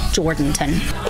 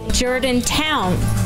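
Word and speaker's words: Jourdanton: the only town in the area that's been mispronounced. The ones that we usually hear are Jordanton. Or as it was today with an out-of-town caller. Jordantown.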